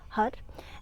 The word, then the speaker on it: Har: would know is creation h-a-r pronounce h-u-d we want to strike the roof of the mouth with the tip of the tongue as we chat hut and also pumping the